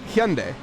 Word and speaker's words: Hyundai: I'm intentionally butchering them no it's I I pronounce them Hyundai that's that's how you it's it's a Korean car it's Hyundai but yeah that's how